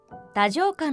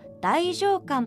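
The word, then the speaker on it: 太政官: 太政官は古代は太政官と読みましたが近代では太政官と読みます。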